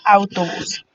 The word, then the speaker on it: autobús: Otro de los ejemplos es autobús. Autobús del mismo modo se divide en 3 sílabas, au, to y bus, siendo la última la sílaba que suena más fuerte.